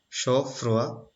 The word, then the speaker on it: chaud-froid: It is pronounced as chaud-froid.